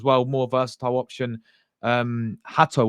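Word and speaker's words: Hato: more versatile option um Hatau or hater I don't know how you pronounce his name I think it's I think it is Hatau um a lot of people say it's hatu but Jeral Hatau from Ajax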